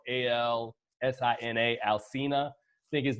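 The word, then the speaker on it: Alsina: with I think the guy's name is and it's spelled al si na Alcina think his name is and you know the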